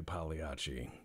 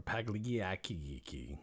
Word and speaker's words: Pagliacci: game where I play Pagliacci to say the least or pagligi if you pronounce things with a hard C which I don't recommend doing because if you go